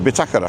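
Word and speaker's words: bitácora: Optimist and the uh bakura it's got a little tick on the a so you've got to pronounce it bakara all right it actually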